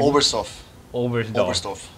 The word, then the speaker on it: Oberstdorf: how do you pronounce the place? Oberstdorf, is it? The German? Oberstdorf.